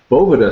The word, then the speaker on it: Boveda: Boveda officially is how we say it. Boveda.